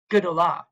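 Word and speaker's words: גדולה: This would be pronounced all together, Gdolah. But you can hear that that's its own syllable, G.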